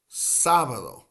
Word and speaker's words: sábado: Sábado, which is the word for Saturday in Spanish, that has the accent over the first A. Sábado. Hoy es sábado.